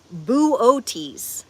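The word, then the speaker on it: Boötes: Arcturus is a red giant star in the northern constellation Buotis. Okay, it's like B O with the um llad things. T E S buotis cuz I had to look up the pronunciation and it is the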